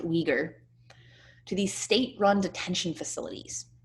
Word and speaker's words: Uyghur: million uyghurs all right this is pronounced uyghur to these state-run detention